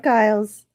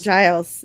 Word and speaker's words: Giles: It's not Guiles. It's Giles. Giles. Giles. Hard G.